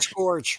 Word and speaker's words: Scourge: Scourge. Scourge the Gorge. Scourge. Scourgeous George. Scourge. It rhymes with George, but it's its own word.